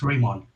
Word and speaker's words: Rimon: Is it Rimon? Am I pronouncing that right? It's Rimon. But Rimon. That was close.